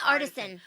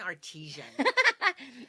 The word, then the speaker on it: artisan: Yeah, artisan. I keep saying artesian.